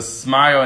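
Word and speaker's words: SMYAL: So the Smile, and that's spelled S-M-Y-A-L.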